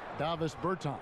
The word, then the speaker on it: Davis Bertans: Davis Bertans.